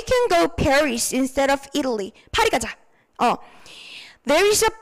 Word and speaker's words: Italy: Italy, 요거 발음이요. 이탈리 아니고 Italy 이렇게 가셔야 돼요. Italy.